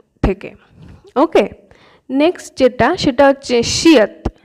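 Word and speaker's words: 시옷: ওকে, next সেটা হচ্ছে শিয়ত। শিয়ত কখনো শ এর মতো উচ্চারণ হয়, আবার কিছু কিছু ক্ষেত্রে ত এর মতো উচ্চারণ হয়।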